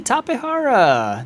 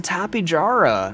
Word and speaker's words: Tapejara: Hey, Tapehara! Nice! And I am not ashamed of the way I pronounce that. Tapehara. It's a South American discovery named by people who spoke Spanish, most likely.